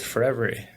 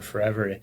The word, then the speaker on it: Forevery: That's spelled forever with a Y at the end. It's for every one of your photos.